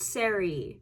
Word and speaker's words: Sari: Her name is pronounced Siri, not sorry, like not sorry art.